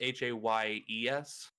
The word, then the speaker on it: Hayes: say your last name so my last name is h-a-y-e-s that's how i ended up with hayes uh and then